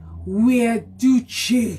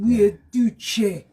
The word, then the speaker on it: Guiducci: And he said I pronounced his name right. Hear me. It is, say it again. Guiducci. Yeah. And I have to say it with chest. Guiducci.